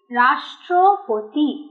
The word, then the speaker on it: রাষ্ট্রপতি: যুক্ত ট যুক্ত র, রাষ্ট্রপতি, ঠিক যেরকম যেরকম ভাবে পরপর লিখেছি ওইভাবেই উচ্চারণেও পরপর শব্দগুলো আসবে। রয় আকার মধ্যাহ্ন সয় টয় রফলা রাষ্ট্র, প তয় রশি পতি রাষ্ট্রপতি রাষ্ট্রপতি।